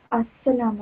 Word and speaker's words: السلام: لام is silent here. Join Ali with seen. السلام عليكم.